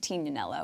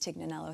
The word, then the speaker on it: Tignanello: was an aha moment tinanello which people sort of pronounced tignanello here in the states and it became my